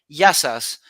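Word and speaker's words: Γεια σας: Yasu if it's if you're talking to one, Yasu to you. But if you're talking to Okay. many, Yasas. But the plural, sas are many.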